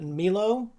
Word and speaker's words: Milo: uh who by the way his name is actually pronounced uh Milo.